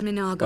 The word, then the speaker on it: Mago: of a Motte is my name is Mago that's how it said and I belong to